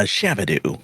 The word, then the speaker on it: Shabadoo: A shabadoo.